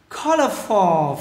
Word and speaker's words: colorful: Nam hàng colorful, colorful for nhấn âm đầu các bạn nha, colorful lamps.